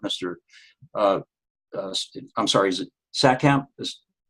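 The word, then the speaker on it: Saatkamp: I'm sorry, is it Satkamp? Is correct pronunciation? Yeah, Herman Satkamp, yes.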